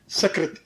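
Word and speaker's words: सकृत: शब्द है संस्कृत में सकत सकत शब्द है अब सकत का अर्थ होता है एक बार सकत जो है स से दंती स से उच्चारण सक तो उसका अर्थ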